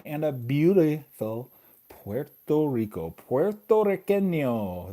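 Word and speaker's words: puertorriqueño: Puerto Riqueño. That's how you say it in Spanish.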